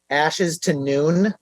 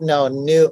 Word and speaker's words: Ashes to New: I've heard Ashes to Noon, like Noon. The time. Yeah. Ashes to Noon. I was like, no, new, like a phoenix, like from ashes to, like, it takes some people like 3-4 tries.